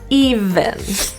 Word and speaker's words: even: spread into a smile even the main issue here is always that V sound often students will pronounce it with an F or voiceless sound so we add a bit of voicing to it if if even even